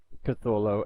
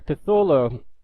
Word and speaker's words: Cthulhu: now little fact here catho that's how I pronounce it but supposedly according to the legend his name cannot be pronounced by human vocal cords this is pretty interesting